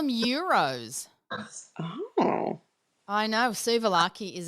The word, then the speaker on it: gyro: suas is Euro Palmers euro is not like gyro what we call it like that's exactly what it is it's spelled like that gyro but it's called a EUR okay because for us